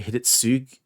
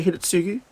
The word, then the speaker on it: Hidetsugu: Japanese words are interesting because it's spelt Hidetsugu, but I think a lot of Japanese kanji and stuff, they miss out the U at the end. So Japanese people say Hidetsugu.